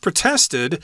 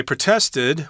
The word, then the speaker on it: protest: or whatever uh they protested or you could say protested I think the American pronunciation of the verb is protested whereas in England they'll say protest as the verb form but the church